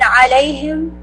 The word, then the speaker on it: عَلَيْهِمْ: And then alayhim, the a, right? Make sure it's from the middle of your throat.